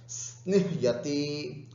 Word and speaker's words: स्निह्यति: स्निह्यति, स्निह्यति, ध्यान रखना, ह आधा है, य पूरा है, स्निह्यति, स्निह्यति ऐसे उच्चारण करना।